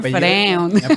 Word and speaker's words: Freund: y yo, bueno, es Freund. Mi apellido es Freud, se pronuncia Freud con una N, la diferencia con Sigmund Freud.